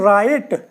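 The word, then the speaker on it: write: इसी तरीके से रीत blue are आई tea blue तो यहां भी ब्लू क्या हो गया साइलेंट रेट मेंस याचिका जो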